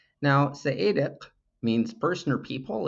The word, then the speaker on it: Seediq: The reason I overemphasize the pronunciation of the Q is to remind you and to remind myself that it's not a K. Now, Saedic means person or people.